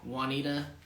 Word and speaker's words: Juanita: says juwan that's not juwana because this is this is a spanish name oh j it becomes um like an h like a w or a like juanita one jose juanita moore yes jose josc